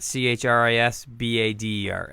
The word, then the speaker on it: Chris Bader: Instagram at CHRISBADER at Chris Bader. It's pronounced and spelled the same.